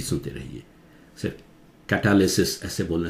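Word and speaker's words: catalysis: के लिए, कैटालिसिस, कैटलाइज, कैटालिसिस, देखते कहां जोर से स्ट्रेस कहीं आ रहा है, यहां कैट पे आ रहा था, यहां टैल पे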